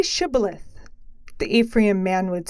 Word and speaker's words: Shibboleth: When a fugitive of Ephraim wanted to cross the Jordan, the Gilead guards would say, "Say Shibboleth." The Ephraim man would say, "Sibboleth," for he could not pronounce it correctly.